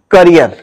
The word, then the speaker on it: career: और E double है तो इस वर्ड को आपको साउंड करना है करियर okay C ए आर